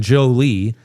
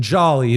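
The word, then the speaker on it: Joly: You might know him as Justin Jolly, but now I check the pronunciation on the draft guide, so I know better than that.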